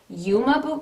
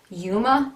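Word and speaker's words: Uoma: is pronounced you guys the brand is yuma beauty it's u-o-m-a yuma beauty drama bomb extreme volume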